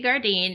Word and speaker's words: Gardine: do yeah so my name is Gardine and first Dakota thank thank you for saying